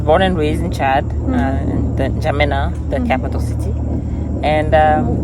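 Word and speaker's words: N'Djamena: e is silent yes the N is almost silent yes yes J Jina yes yeah so you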